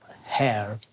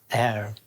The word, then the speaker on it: heir: Yeah, because you have a H, but you don't pronounce it in that case.